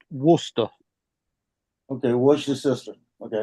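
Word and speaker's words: Worcester: wer it's it's spelled War sester but it's pronounced wer okay what your sister okay I got it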